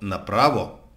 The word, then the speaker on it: направо: поленитесь проверьте в том ли месте у него ударение а заодно не грех проверите перевод Чтобы ещё раз убедиться что направо означает прямо страхотно вовсе не страшно а совсем